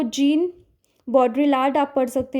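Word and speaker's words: Jean Baudrillard: Then symbolic exchange तो gene बॉड्रीलार्ड आप पढ़ सकते हैं इसको। वैसे प्रोनाउंसिएशन इसका समटाइ्स कहीं पे जान बॉड्रिया भी बोला हुआ है।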